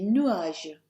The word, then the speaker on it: nuages: Il y a des nuages. Il y a des nuages. That's a silent S on the end.